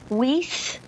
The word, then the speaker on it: Wyss: McFarland in the first season of Highlander Amanda whis hi Amanda hi you pronounced my last name right oh good oh